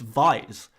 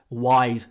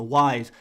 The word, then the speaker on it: Wise: and organically say dennis vice and now i can stand here and say well i'm english dennis wise is an english football player it's pronounced wise don't say vise it's a wise but at the same